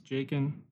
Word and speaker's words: Jacen: real quick my name's jacen pronounced like bacon with a J and I have worked